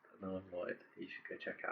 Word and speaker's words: NLLNVD: It's NLLNVD, pronounced null and void.